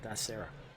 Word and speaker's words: Tharassa: I think that's how you say it, Thasara.